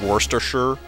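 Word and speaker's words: Worcestershire: like spelled War Chester Shire but it's like pronounced like Worster sure wor it's like Worster sure you're just like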